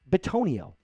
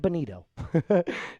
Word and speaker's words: Bitonio: His name is Joel Bitonio. I almost said Benito.